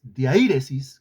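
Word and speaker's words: διαίρεσις: pertenece al griego que en el griego es diairesis con acento en la segunda I tiene tres is el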